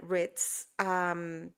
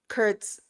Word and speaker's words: Kurtz: And she's a therapist, plugging for Karen Ritz. I totally mispronounced her last name. I just realized that. Kurtz.